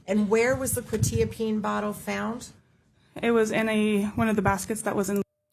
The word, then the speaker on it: quetiapine: quetiapine. Correct. Thank you. I'm going to pronounce the Seroquel wrong every single time.